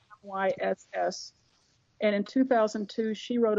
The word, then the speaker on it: Myss: Her last name is spelled Myss.